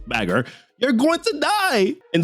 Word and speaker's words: baka: Zoro challenges Mihawk to a fight and Nami's like, "Zoro, you baka," pronounced bagger, "you're going to die."